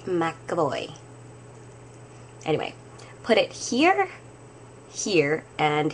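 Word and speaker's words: McEvoy: Trish McAvoy as well pronounced it McAvoy okay not Trish McCoy Trish McAvoy anyway put it here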